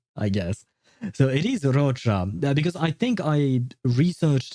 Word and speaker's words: Roccia: So, it is Rocha because I think I researched it beforehand in order to pronounce her her name properly.